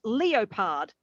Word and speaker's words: leopard: sound again yeah yeah many eh leopard leopard it's leopard i don't know